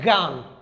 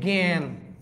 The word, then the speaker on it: জ্ঞান: যেমন আমি লিখেছি গান ভাইয়া এটা কেউ বলে না গান। এটাকে সবাই বলে যে জ্ঞান দেখেন জ্ঞান একমাত্র বর্গ জয়র সাথে আকার থাকলে এটা গজলা হয়ে যাবে।